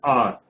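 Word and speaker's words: hour: अब आर की शुरुआत एच से हो रही है लेकिन आपको मालूम है इसमें एच साइलेंट है, एच से शुरुआत नहीं होती ध्वनि की, ध्वनि की शुरुआत ओ से होती है और हम इसको आर बोलते हैं, हवर नहीं बोलते आर बोलते हैं।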